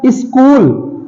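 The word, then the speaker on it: school: हैं स्कूल स्कूल में ऐसे देखा जाए तो इसे ए चूल ये सी से तो चा बन जाता है तो स् चूल हो जाएगा लेकिन क्या इसमें स् चूल बोलते हैं नहीं इसे हम स्कूल बोलते हैं स्कूल में हमारा एच जो होता है ये साइलेंट होता है अगला वर्ड है हमारा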